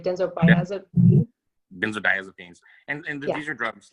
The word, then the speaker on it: benzodiazepines: Benzodiazepines.